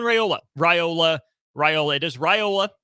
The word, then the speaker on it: Raiola: Rola Rola it is Rola officially that is how it's being pronounced we'll get into the